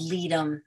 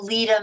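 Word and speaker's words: Ledum: of all this other stuff, is something called leadum.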